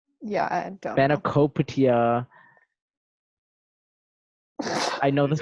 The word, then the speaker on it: Spanakopita: But the emphasis is on Spani. It's Spanakopita.